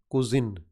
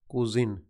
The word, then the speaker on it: cuisine: food and diet is cuisine cuisine look at a spelling see you i s i and ii this is not the same as cousin okay is it coos